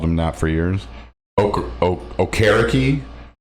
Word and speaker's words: Okereke: Okereke. Okariki? I always call them Okariki. Yeah, is that wrong? Yeah, it's Okereke.